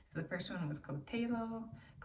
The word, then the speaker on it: coltello: So the first one was coltello. It's Italian, so double L's pronounced coltello, and that translates to English as knife.